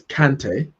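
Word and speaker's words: Kanté: what he said is it's actually both let me just double check something it's both kante and kante in french it's kante in uh where's he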